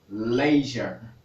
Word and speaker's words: leisure: você saber que a pronúncia disso aqui é leisure. Leisure. A pronúncia desta palavra é leisure.